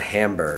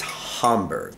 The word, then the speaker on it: Hamburg: So it's just, you got to remember, it's not Hamburg. It's Hamburg.